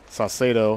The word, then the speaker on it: Saucedo: Saucedo, that's how Andy is pronouncing it.